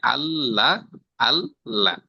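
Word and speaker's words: الله: আল্লাহ জি, আল্লাহ জি, ঠিক আছে, আল্লাহ অর্থাৎ দুইবার, আগে একবার উচ্চারণ হয়, পরে একবার উচ্চারণ হয়, ঠিক আছে।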